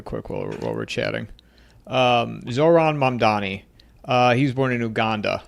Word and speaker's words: Mamdani: I can never pronounce it, but I'm going to look it up while we're Mamadani or something. Yeah, it's Mamdani.